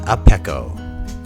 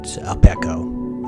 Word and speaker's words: Apecchio: I hope I'm pronouncing it right, Apecchio. It could be Apecchio, but I think the CHI is just a K sound.